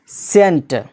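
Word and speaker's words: scent: सी साइलेंट रहता है example के तौर पर यहां पर है एस सी ई एन टी जिसका माना होता है अतर खुशबू सेंट यहां पर सी यानी के एस के बाद आया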